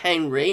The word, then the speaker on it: Henri: I think it's Henri, not Henry. It looks like it's sort of the French the French spelling with an I rather than a Y. So I'm pronouncing this Henri. I know some people pronounce it Henry, but I think that is like the French pronunciation, Henri.